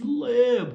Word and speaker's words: lib: live equals it's pronounced lib why do you keep saying live it's going to be